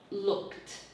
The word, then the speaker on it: looked: A lot of Spanish speakers pronounce every syllable they see. It's very difficult for them to cut this short into a D, okay? It's looked, and this is what you're teaching them, to pronounce the past. So that, never that syllable, but a T.